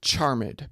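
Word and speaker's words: charmèd: of an editor putting putting that accent over Ed especially to make sure that it gets pronounced as a separate syllable uh to maintain the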